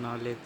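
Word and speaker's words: knowledge: नॉलेज। नॉलेज। और लिखते किस अक्षर से हैं? के से। के का उच्चारण होता है कहीं? तो फिर के क्यों लिखते हैं? तो साइलेंट वर्ड याद करना पड़ेगा हमें।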